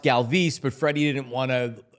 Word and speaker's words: Galvis: Remember Freddie Galvis became Freddie Galvis? Because after a couple seasons, they're like, it's actually pronounced Galvis, but Freddie didn't want to make people say it, blah, blah.